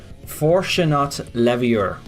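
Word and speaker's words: Fortunat Leveilleur: But if you're wondering who this person is, I'm going to try and pronounce his name properly. It's Fortunat Leviur.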